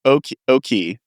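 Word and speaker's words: oche: Yeah, like oki. Is that how it's pronounced? Yeah, the line on a dartboard.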